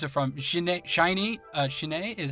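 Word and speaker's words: SHINee: uh what is it from a shiny uh shinai is how you pronounce it shiny yeah them and and they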